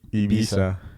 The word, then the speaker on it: Ibiza: Yeah, it's supposed to be Ibiza. It's spelled hella weird.